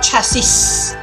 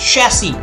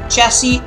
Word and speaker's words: chassis: chassis of the car it's not chasis its chassis chassis of the car and now going back